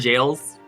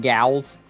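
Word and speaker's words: gaol: Yeah, Pokemon jails. Pokemon Gals. No, it is actually pronounced jail.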